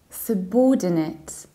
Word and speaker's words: subordinate: as I usually hear what we say subordinate subordinate you reduce the beginning is not sad it's just a second syllable and you reduce the ending it's subordinate subordinate or in the